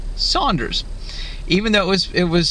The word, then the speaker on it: Sanders: name was probably pronounced Saunders, even though it was spelled S-A-N. When James Saunders was alive, his name was probably pronounced as if it's S-A-U.